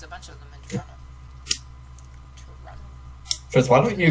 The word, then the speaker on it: Toronto: I've never said that it's Toronto yeah it's torado but I've never heard an American pronounce it that way how would you okay